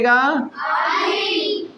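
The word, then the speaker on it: early: देखिए इसको क्या पढ़िए अर्ली इसको पढ़ेंगे इसको ई को साइलेंट कर दीजिए अब पढ़िए अर्ली अर्ली अर्ली मतलब होता है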